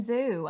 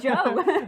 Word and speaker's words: Zhou: He kept calling him Zoo, and I was like, no, it's Joe.